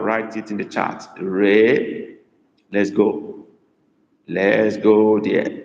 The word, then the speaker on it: ree: ebo is not pronounced as e is pronoun pronounced as a so Ray is r e e okay that's correct what